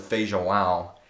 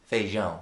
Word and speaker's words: feijão: My pronunciation of feijão is wrong. It's a mixture of feijoada and feijão, the proper way to say beans.